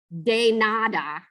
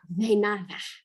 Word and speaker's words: de nada: It's a TH, but it's not like a US TH because it's not de nada, So it's just like between a D and a TH, de nada.